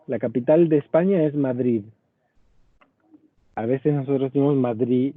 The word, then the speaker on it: Madrid: de españa se dice madrid porque la des final de una palabra se pronuncia como z en muchos casos madrid- salud sería salud